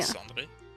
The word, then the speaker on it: descendre: Descendre. Descendre? Okay. You're rolling the R. You don't need to roll it. This is French, not Spanish.